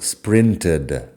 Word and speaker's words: sprinted: Lo que pasa es que si pronunciamos una sílaba extra en pasado aquí. El pasado sprinted.